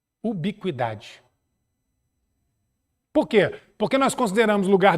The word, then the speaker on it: ubiquidade: chamada teoria da ubiquidade se escreve como se fala Ubi com idade o que o ubiquidade porque porque nós consideramos